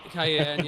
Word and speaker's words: Cyan: cyan is definitely a republican 100% Cen yeah Cayenne yeah we that's uh I'm so glad that